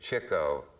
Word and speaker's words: Chico: And the next day, Chico, and that's how it's pronounced, and Groucho were walking.